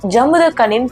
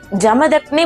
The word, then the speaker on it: ஜமதக்னி: பரசுராம அவதாரம் பார்ட் 2 வீடியோவில் நான் பரசுராமரோட தந்தை பெயர் ஜமுதக்கனின்னு ப்ரொனவுன்ஸ் பண்ணியிருப்பேன். அது ஆக்சுவலாக ஜமுதக்கனி அப்படின்னு இல்லைங்க, ஜமதக்னி முனிவர். அது ஒரு சின்ன மிஸ்டேக் ஆயிருக்கு.